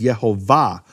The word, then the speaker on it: Yehovah: the of the word the emphasis of the word is in the final syllable its marked that way and all Hebrew manuscripts with vowels no question about it all the Hebrew manuscripts with vowels market as Yehovah now if it was